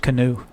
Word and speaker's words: Keanu: and Alex winter recently it's pronounced canoe forever see that video